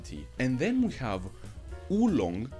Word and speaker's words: oolong: And then we have oolong, pronounced woolong, which translates to dark dragon tea.